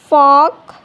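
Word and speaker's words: folk: तो एग्ज़ाम्पल देखिए काम, could, फॉक, York. T silent यानी टी कब साइलेंट होता है?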